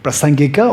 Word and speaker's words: Prasangika: Prasangika or Prasangik is same.